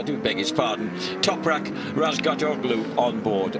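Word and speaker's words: Razgatlıoğlu: Toprak Razgatoglu on board. Oh, you've told me not to pronounce the G, Julian.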